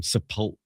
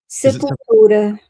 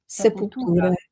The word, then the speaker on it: Sepultura: sure I spent my teenage years calling them Sepultura or something. And it's like, there's so many interviews where people say, "How do you pronounce?" Do you know Viviane? How do you pronounce their name? Sepultura. Sepultura.